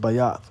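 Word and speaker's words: בית: The second letter in the Hebrew alphabet is Bayath. It says Bet, but it's actually pronounced Bayath.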